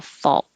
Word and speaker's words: fault: w almost to a fault and the vowel in fault is like fall so i wrote it that way to help you remember that it's ah fall and then a t